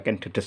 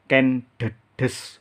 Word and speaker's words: Ken Dedes: Ini juga dibaca ken, de, des sama. Baik teman-teman, sementara sampai di sini dulu video kita kali ini. Jadi dalam video ini saya sampaikan bahwa pengucapan yang benar adalah ken, de, des, bukan ken, de, des ya.